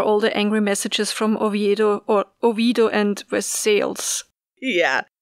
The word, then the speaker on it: Oviedo: Also, there's a town in Florida named for Oviedo, which is the capital of Asturias, but they pronounce it Oviedo. And apparently there's a movement to try and get people to pronounce it correctly, which I support.